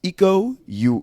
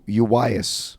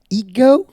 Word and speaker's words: Iko Uwais: Bruce Lee versus Iko Uwais. Bruce Lee. I hope I don't know who butcher that is. name. Ego.